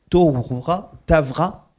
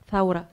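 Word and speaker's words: ثورة: Euh en janvier 2020, elle s'est rendue à Bagdad pour couvrir la Je vais peut-être mal prononcer la Tra Tavra. Dites-vous Taura, pardon Taura. Oh, j'y serais jamais arrivé.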